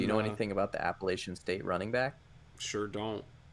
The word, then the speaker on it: Appalachia: Yeah, Appalachian State. I'll use this opportunity to practice my chops saying Appalachia. That's how you say it, depending on where you live.